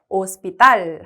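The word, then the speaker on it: hospital: 얘도 쌍디귿 소리 나가지고 얘 아채가 무음이 오스피탈 하고 발음이 됩니다 자 그다음에 코알라 아고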